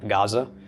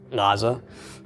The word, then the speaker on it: Gaza: for names like Gaza it's actually Naza we were too transliterated today we'd probably lose it the G in front of it entirely because it's quickly becoming a silent letter but originally it made that you know some some portion of a G sound okay any other questions